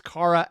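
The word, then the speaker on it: Chara: Oh, Kara, nice.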